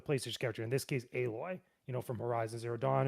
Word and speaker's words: Aloy: Kotaku we have the a powered and I mispronounced her name before a aloy aloy horizon Z Dawn demos our terrifying chatbot future